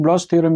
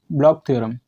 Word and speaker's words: Bloch: इस वीडियो में हम देखेंगे ब्लॉक थ्योरम के बारे में। तो स्टार्ट करते हैं आज की वीडियो। ब्लॉक थ्योरम, इसे कई लोग ब्लॉच थ्योरम भी बोलते हैं, लेकिन इसका करेक्ट प्रोनाउंसिएशन है ब्लॉक थ्योरम।